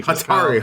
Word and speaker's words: Hatari: So Atari with a Hatari. Hatari. Hatari. I was looking like how do I pronounce this right quick?